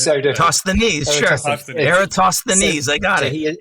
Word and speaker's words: Eratosthenes: a Word document too, because I can never pronounce the name of the guy that I've referenced in the book. Is Eratosthenes. Easy for you to say. It's so impossible. I've written it as Eratosthenes. Eratosthenes.